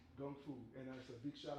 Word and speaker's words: gung fu: is another word for the Cantonese pronunciation for Kung Fu so when you hear